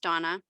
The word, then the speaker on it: Dana: case of donna rishby it's spelled like dana but uh it is pronounced donna and she disappeared in